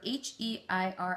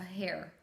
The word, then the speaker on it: heir: to pronounce this word h e i r s a hair an heir an heir that's how you said it someone who's going to